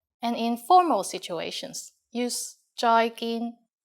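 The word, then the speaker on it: 再見: just like the English bye-bye with a Cantonese pronunciation bye bye and in formal situations use joyin Joy gin joyin means goodbye finally in canones we have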